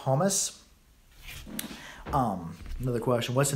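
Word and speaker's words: хомус: like over in Russia they call him humus KH o mus he said that and they pronounce it humus um another question what's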